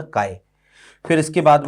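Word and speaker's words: χ: कई इसको एक्स बोल देते हैं, आप एक्स भी बोल सकते हो, कोई फर्क नहीं पड़ता प्रोनाउंसिएशन में, लेकिन इसका सही प्रोनाउंसिएशन काय होता है ना, काय।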